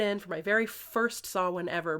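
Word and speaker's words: Samhain: for my very first Sawin ever, back when I didn't know how to pronounce it. I said, "Somhane." And she very gently corrected me.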